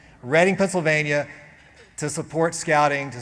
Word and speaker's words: Reading: And it just makes me so warm and excited to see so many people here in Reading, Pennsylvania. I'm pronouncing that correctly. Reading, Pennsylvania, to support scouting, to support young people